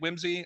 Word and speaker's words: WIMSE: both um and uh we're pronouncing it Whimsy I am uh firmly a believer that you can't dictate how people will pronounce an acronym in the wild um so you know